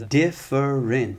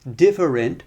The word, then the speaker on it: different: And the last example of this type of word I'll say is different. Three syllables, but that middle schwa sound, if we drop that, then different becomes different.